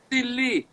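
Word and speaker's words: سیلی: Sili is spelled S-E-L-E-E. Sili.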